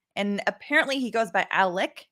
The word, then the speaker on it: Alec: go through this um if i slip into saying alex instead of alec my apologies i try